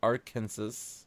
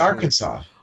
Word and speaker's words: Arkansas: Arkansas. Arkansas. Arkansas incorrectly per the state code. The only acceptable pronunciation is in 3 syllables, with the final S silent, the A in Yeah.